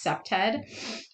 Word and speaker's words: CPTED: It's pronounced CPTED. And CPTED always asks the question, what is the problem and why does it exist in this specific location?